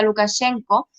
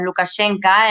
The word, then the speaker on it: Lukashenka: han dicho muy bien si queremos ser totalmente fieles si quieres la pronunciación bielorrusa diríamos lukashenka en español siempre lo